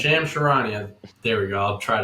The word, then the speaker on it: Charania: I actually don't know how to pronounce his last name. Charania. Shams Charania. Shams Charania.